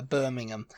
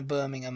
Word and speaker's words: Birmingham: um the next one is Birmingham in Alabama Birmingham and it's like if I say oh I'm going to Birmingham Alabama they they' know what I meant yeah